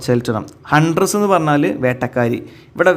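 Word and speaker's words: Cheltenham: ദ ഹൺഡ്രസ് from ചെൽറ്റനം അതാണ് ഉച്ചാരണം കേട്ടോ, ചെൽറ്റനം.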